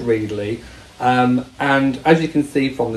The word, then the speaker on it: Readly: Yes, it's pronounced Readly.